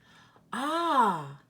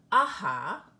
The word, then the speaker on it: ah: two oh yeah well have you ever noticed that you're not actually pronouncing the H in these words it isn't AHA or yeah okay we just naturally drop off the H on the end of these